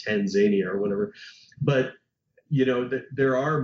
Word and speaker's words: Tanzania: a director telling me the way that I pronounced Tanzania, the country, Tanzania, was incorrect. And it should be Tanzania. And I said, no, nobody says that.